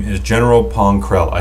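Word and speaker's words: Pong Krell: lot of clones and his name is general poncrell i said it right this time right yes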